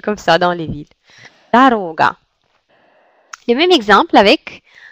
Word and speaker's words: дорога: veux dire, qui habitent dans les villages, ils prononcent toujours tous ces O comme O. Donc, ils disent par exemple doroga.